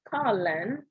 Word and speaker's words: Carlin: In the story, Carl, I've never really known if I was pronouncing people's name correctly, but I believe it's Carlin.